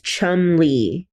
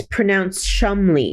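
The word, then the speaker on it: Cholmondeley: okay the way that you say this is Chum Le but you see the way that that's spelled chalam chal no that's Chumley yeah no but it's it's pronounced Chumley that's a very Posh English name yeah how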